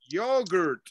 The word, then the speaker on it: yogurt: How about yogurt? Repeat after me. Yogurt. Yogurt. Yogurt. Hold on, I hear some of you pronouncing the yo, yo. No, listen, you say it like this. Yo. Yo. Yogurt.